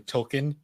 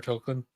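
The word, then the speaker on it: Tolkien: they revealed that uh token's name is actually tolken like like Jr token yeah and uh they made the joke where like if you've been pronouncing it token this entire time you're part of the problem and they actually went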